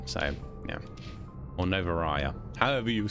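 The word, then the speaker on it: Noveria: and then i say it wrong again novaria all right novaria okay see if i can remember that for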